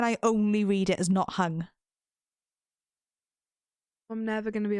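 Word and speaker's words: Nothung: Oh no, it's no thung. Yeah. Yeah, but so why can I only read it as not hung?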